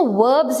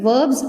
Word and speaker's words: verb: సో వర్బ్స్ అంటే ఏంటి? సింపుల్గా చెప్పాలంటే వర్బ్స్ ఆర్ యాక్షన్ వర్డ్స్. మనం చేసే ఏ యాక్షన్ అయినా కన్వే చేసే వర్డ్స్ని వర్బ్స్ అంటారు. VERBS, వెర్బ్ కాదండి, వర్బ్. R is silent.